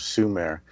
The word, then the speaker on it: Sumer: Thank you, Justina, for letting me choose the subject of the ancient civilization of Sumere, which is spelled s u m e r, which is summer with only one m.